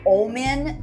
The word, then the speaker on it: Omen: you because it's like this it's gotta be omin like a little more pronounced so it doesn't sound like i'm just